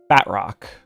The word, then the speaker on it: Batroc: Batrock.